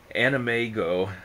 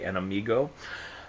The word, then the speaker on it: AnimEigo: go check on the animego site i believe that's how it's pronounced a-n-i-m-e-i-g-o it might be an amigo but um you know